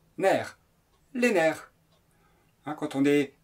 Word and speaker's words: nerfs: mot nerfs au pluriel ça s'écrit nrf mais on prononce mer les nerfs quand on